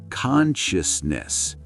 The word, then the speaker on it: consciousness: Consciousness. This is the mountain of English words. Consciousness. Consciousness. Close. Think of shus like the sound in delicious.